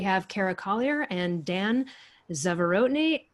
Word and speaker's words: Zavorotny: cara collier and dan zeverotini dan go ahead and say your last name because i know i butchered it no that was actually really good zavorotni okay great so you